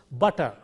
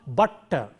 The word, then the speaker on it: butter: middle of a word, it will be pronounced as though there is a single T there. So it is pronounced butter. It is not butter.